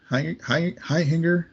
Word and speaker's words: Hechinger: Yeah, it's Fred Hechinger.